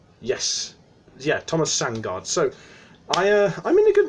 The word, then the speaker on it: Sandgaard: So, hang on, I'm just trying to see how you pronounce his name. Yes, yeah, Thomas Sandgaard.